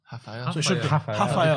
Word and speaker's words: Rafael: In Brazil, they pronounce R's as H's. Rafael.